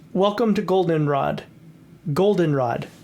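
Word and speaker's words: Goldenrod: welcome to Golden Rod Golden Rod the ACT accent is on the o and I was like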